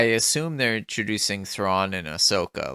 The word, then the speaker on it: Ahsoka: So I thought it was Ashoka, but it's actually Ahsoka. Yeah, it's Ahsoka, which actually, if you phonetically pronounce it, makes sense.